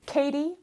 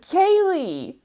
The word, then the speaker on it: Kaye: what my name was I said Kaye Katie he said Kaye I corrected he questioned no Kaye I repeated Kayla he persisted Kaye I pronounced clearly trying my best to